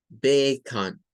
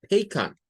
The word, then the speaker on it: bacon: Esta O es un schwa. Bacon. Bacon.